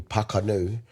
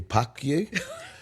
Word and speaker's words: Pakanu: And um but he was only little at the time and and instead of calling me Pakanu, he left out a syllable and he was like, "Calling me Pacu."